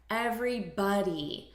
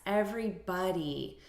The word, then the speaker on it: everybody: notice the pronunciation here everybody so it's not body like the spelling suggests everybody this is why it's